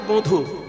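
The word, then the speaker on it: বঁধু: হে বধু কি আর এখানে যে বধু উচ্চারণটা ঠিক করে করতে হবে চন্দ্রবিন্দুটা যেন থাকে সাধারণত পূর্ববঙ্গের লোকের উচ্চারণে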